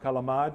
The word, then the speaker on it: calamari: things like tripe in calamari really is pronounced kalamat in this part of town those are words that